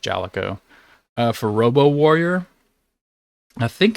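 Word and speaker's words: Jaleco: I think I've heard it's pronounced Jalico.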